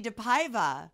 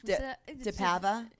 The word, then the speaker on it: DePaiva: welcome back look who I have here deiva she said my name right I'm so happy oh what do people say it wrong oh my gosh deava deavia DEA deara they're morons yeah just look at it you